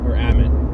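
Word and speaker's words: Ammit: It's Amit, it's definitely Amit. I see A-M-M-I-T, and for whatever reason my mind goes to pronounce it Amit, and I don't know why, because that's not right.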